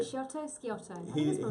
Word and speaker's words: Sciotto: Sciotto.